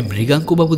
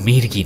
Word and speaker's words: মৃগাঙ্ক: চিনতাম এমন নয়, তবে মৃগাঙ্কবাবু দেখলাম আমার বাবাকে বেশ ভালোভাবে চেনেন। হ্যাঁ, ওনার নাম মির্গি নয়, মৃগাঙ্ক, মৃগাঙ্ক নারায়ণ রায়। শঙ্করের উচ্চারণের গুণে ওটা আমি মির্গি শুনেছিলাম।